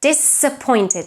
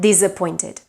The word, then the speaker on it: disappointed: mispronounced as well because any word that starts with the prefix dis is pronounced with the voiceless S because the prefix dis is pronounced with S. So disappointed, not disappointed.